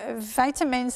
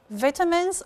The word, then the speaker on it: vitamins: and by the way vitamins and minerals these are words that co-locate together over locations and we can say vitamins or vitamins correct pronunciation bridge pronunciation and American pronunciation thank you miss yes